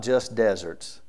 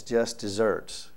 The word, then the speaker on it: Just Deserts: know what that is it's not just deserts It's Just Desserts but it's not spelled like dessert desserts if you ask your